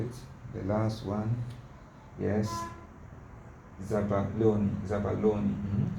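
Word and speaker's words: zabaglione: The last one, yes, zabaloni. It's an Italian sweet food. Okay, it's an Italian sweet. Okay, it's a kind of food. It's high content of sugar. Zabaloni, as if the thing is silent.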